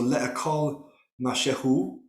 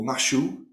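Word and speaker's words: מַשֶּׁהוּ: So le'akol mashehu, or mashu, as it's pronounced in the modern, is to eat something.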